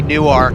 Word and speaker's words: Newark: you just missed basically new arc and I said that right it's new arc Delaware the difference between Newark Delaware and Newark New Jersey is how you pronounce it so if I say